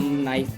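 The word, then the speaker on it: knife: जिसके अंदर के साइलेंट रहता है इसको हम नाइफ पढ़ते हैं।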